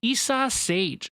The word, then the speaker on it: Isa Sage: You pronounce Isa right, but the other part is like sage. Isa Sage.